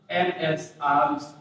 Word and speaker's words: alms: और ALMS, आर्म्स, इसको आर्म्स पढ़ते हैं, इसमें यल साइलेंट रहता है, ये भी क्या होता है, प्लूरल नंबर में होता है।